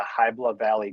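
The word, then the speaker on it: Hybla Valley: So September 13th, 9:00 am to noon and it's at the Hibla Valley Community Center.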